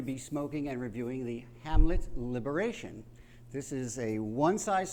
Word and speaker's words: Hamlet: liberation omelet handle it omelet or Hamlet and Spanish the H is silent so it could be omelet yeah anyway he is